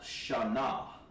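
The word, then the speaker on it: שנה: Year in Hebrew is pronounced Shana.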